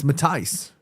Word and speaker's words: Matthijs: Matthias is pronounced Matisse, as in parrot. Matisse? As in paradise? Oh. So it's Matthijs De Ligt. I thought it was Matisse. The Dutch pronunciation is Matthias? Matthijs? Paradise. Matthijs. So it's not Matisse, it's Matthijs.